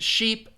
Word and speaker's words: sheep: to load is it so again ship is that um is that the the short I sound ship uh and sheep is the long e sound so let me see